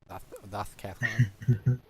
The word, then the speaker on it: DOScathlon: DOScathlon.